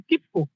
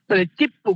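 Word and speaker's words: 切符: দেখুন এক নাম্বার আছে কিপকু কিপকু মানে হচ্ছে টিকেট এখন দেখুন কি এর পরে যে প আছে না এইযে পটা কিন্তু ডবল উচ্চারণ তসর কারণে কি ডবল উচ্চারণ হয়ে গেছে গা সরি কিপ্পু কিপ্পু মানে হচ্ছে টিকেট মানে পটা ডবল উচ্চারণ হইছে তাহলে কিপ্পু মানে টিকেট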